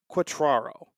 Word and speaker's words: Quatraro: if I don't end up getting all right quatraro yeah Matt quatraro so Matt quatraro is the manager of the Kansas City Royals